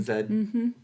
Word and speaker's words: Z: It's actually pronounced Zed. In that Zed. case. Oh, Yeah. Mm-hmm. Zed.